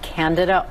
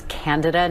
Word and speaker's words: Candida: Yeah, this is in particular a newer type of fungus called Candida auris, first reported out of Japan in 2009. By the way, it's Candida, not Candida. A lot of people mispronounce that.